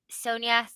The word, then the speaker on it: Sonja: We have Dynamite is doing Red Sonia. Is that how you say it? Sandra? Sonia? Red Sonja, yeah.